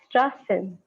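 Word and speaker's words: Straßen: as u and then this character is pronounced as double s okay wherever you see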